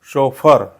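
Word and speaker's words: chauffeur: एफ इ यु आर याचा correct उच्चार होतो या शब्दाचा करेक्ट उच्चार होतो शोफर शोफर and what is शोफर शोफर इज a person employed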